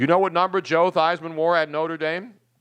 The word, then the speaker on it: Theismann: Joe Theismann, which does not rhyme with Heisman.